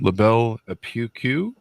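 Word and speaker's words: La Belle Époque: I'm not sure I'm going to pronounce that last name correctly. LaBelle Epoque.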